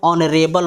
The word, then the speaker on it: honourable: हो रहा था और इस रूल में एच साइलेंट रहेगा। समझ गए? अब आइए एग्जाम्पल देख। एन आवर, क्या लिखेंगे? एन HOUR, एन आवर लिखेंगे, ठीक है। एन ऑनरेबल मैन लिखेंगे, एन HONOURABLE,